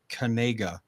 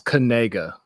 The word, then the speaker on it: Knigga: Apparently, he made a TikTok saying that it's pronounced Kanega. Yeah, it's Kanega.